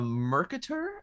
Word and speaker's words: Mercator: cards to go over a mercator i believe is how you pronounce it wait like a merkin